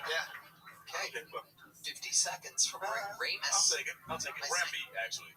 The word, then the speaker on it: Ramb: Yeah, but you spell it like lamb.